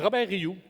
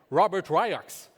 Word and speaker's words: Robert Rioux: well for me so actually my name is Robert you I'm French Canadian and unless you speak French you are most likely going to pronounce my name Robert ryox which sounds more like toxic waste material hence